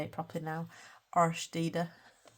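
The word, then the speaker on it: Årstider: Thank you to Jess at Colouring Bumblebee for working out how that is pronounced, so I can actually say it properly now. Arstede.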